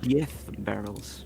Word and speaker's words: Diez Barrels: Diaz barrels. That is correct. Technically pronounced Diez barrels.